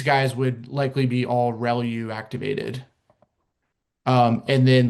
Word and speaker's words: ReLU: Um the the way you pronounce this is called relu.